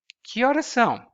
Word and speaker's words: Que horas são: So you put them together and you pronounce them as if they were a single thing.